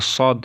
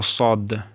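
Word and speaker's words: ص: Сегодня мы будем изучать букву Сад, инша Аллаху Рахман. Вот это буква Сад. Вот. Его надо произносить с горла надо. Са, не с, а са.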